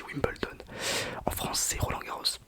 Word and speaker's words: Wimbledon: Ça s'écrit Wimbledon mais ça se dit Wimbledon.